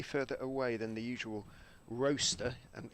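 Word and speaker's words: Rocester: Good afternoon to Richard Jones, who's watching, he says, slightly further away than the usual roaster, and he reminds me how to pronounce it, as in toaster, in Staffordshire, as he's holidaying in Skiathos, where there is clear blue sky and plenty of heat.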